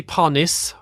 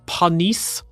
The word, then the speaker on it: Panis: Jian Palmer Jonathan Palmer a lot of people say pis when I looked this up it's actually panis so Olivier panice Giorgio Pantano masil maano